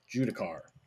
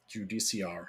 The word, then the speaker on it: Judiciar: Then is another unit that has seen a little bit of a resurgence lately, is the Judicar. Judiciar, however you want to pronounce it, depending on where you are.